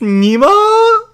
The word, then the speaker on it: Nemo: My name is Nemo. Mr. Nemo. You didn't get it quite right, young lady. It's pronounced Nemo. That's right. I'm a scientist sent by the gods. Nemo?